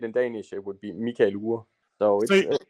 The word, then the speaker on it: Mikael Uhre: Michael is actually the right way to say my name in English. Yeah. Michael Ure would probably be the way that I would say it.